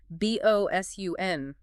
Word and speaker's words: boatswain: The wind and rain literally flattened those distinct syllables into sun. Thankfully, for boatswain at least, the source notes there is a variant spelling that is much kinder to the speller. b o s u n, bosun. It actually reflects how the mouth makes the sound.